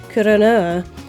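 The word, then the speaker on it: クロノア: This was probably the stepping stone to Clenoa's final name and primary color with the Japanese version of his name being pronounced Kuronoa and Kuro in Japanese meaning the color black.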